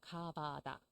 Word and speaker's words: 가바다: 성경에는 그렇게 나와 있죠 한글로는 가바다 이렇게 발음하고요 이거는 그 에러믹 이름인데요